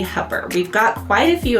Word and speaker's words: Hooper: So if you're not from here, you'll think it's Hooper, but it's actually Hooper.